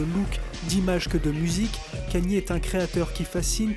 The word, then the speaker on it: Kanye: Kanye, et non Kenny, Kanye. Oh, I'm from Ohio. We say Kenny. That's how we pronounce it. Well, I don't care where you're from. You pronounce my name Kanye.